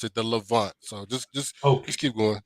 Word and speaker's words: Levant: We pronounce it the Levant.